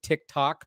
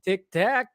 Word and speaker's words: Tic Tac: during the hearing that they would mispronounce it to tick tock because it's so I just found that funny like they they would call it Tik Tok I'm like it's Tic Tac come on guys perfect